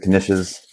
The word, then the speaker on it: knishes: I will put a couple of these Knishes into tinfoil as well. Although those we could probably just throw right on. No, you pronounce the K.